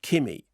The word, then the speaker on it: Kimi: by uh steven soderbergh when i said kimmy and you said how'd you spell it i said k-i-m-i like that okay so directed by